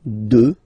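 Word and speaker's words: deux: 2. Final X not pronounced, okay? 2.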